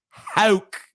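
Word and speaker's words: Houck: It's Hauk. That's a stupid name, dude. Can't believe you don't know Tanner Hauk.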